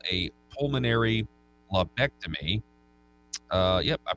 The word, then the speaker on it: lobectomy: In a procedure called a pulmonary lobectomy, yep, I pronounced that right, the cancerous growths were discovered